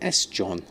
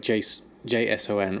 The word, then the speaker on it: JSON: Or is it just JSON? Oh right, JSON rather than SJON.